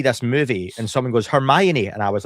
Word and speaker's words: Hermione: I always used to pronounce um Hermione as herian because I never heard her.